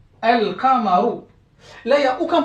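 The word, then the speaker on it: القمر: Si j'introduis le déterminant, donc si je le passe en mode déterminé, défini, donc elle, je place le mot Al-Qamaru. Al-Qamaru.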